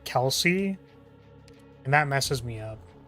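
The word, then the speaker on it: Kal'tsit: So, I always called her Colit, but her name's pronounced like Kelsey, and that messes me up.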